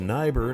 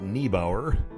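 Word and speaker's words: Neibaur: Yes, my name is pronounced Nyber, not Nebau.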